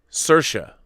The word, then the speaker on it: Cersei: good to know johan kind of like uh sercia as in inertia cersei i i love